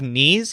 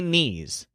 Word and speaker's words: ni: this one has any knees bummer now in that monologue it sounded like he said neither and nor a lot but actually the word he uses is knee the word knee serves